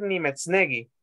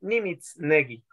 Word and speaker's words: Nimitznegi: Ella no va a decir Nimetznegi, sino que le va a decir Nimitznegi. Entonces, son cambios, ¿verdad? La E lo pronuncia como I.